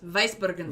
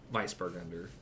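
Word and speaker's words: Weißburgunder: That's a double S. Weissburgunder.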